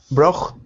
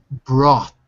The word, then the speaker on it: brought: Brocht. Brought. Brocht. Brought. Okay. Repeat, So, Victor. Repeat. Brought. Brocht. There's no ch. Take out the ch.